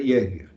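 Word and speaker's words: Jaeger: o Pier Justo Jeger, é um sobrenome alemão, já que se pronuncia Jeger.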